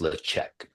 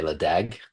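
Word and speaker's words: Ledaig: distillery the repeated release which is known as lech um or as I used to say before someone corrected me maybe Holly herself uh I used to say leagu but it's pronounced lech but if you're an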